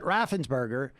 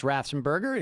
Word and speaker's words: Raffensperger: In other words, they were upset that Raffensperger, in many respects, did not act like Kemp